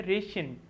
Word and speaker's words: ration: तो इसमें जो अंडरलाइन आपके पास किया गया है TI, वो SH की साउंड निकाल रहा है, रेशन।